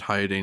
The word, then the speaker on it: Hyadain: I would also pronounce it Hyadane. It's Hyadain.